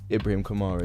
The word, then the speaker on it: Ibrahim Kamara: Today it's me, Georgia, and Ibrahim Kamara. Is Ibrahim Kamara? Yeah. I pronounced it correctly first time.